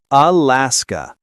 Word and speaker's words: Alaska: Alaska. Stress on the middle syllable. Keep that last sound crisp. Some learners mistakenly say Alaska with an a that's too long. Shorten it.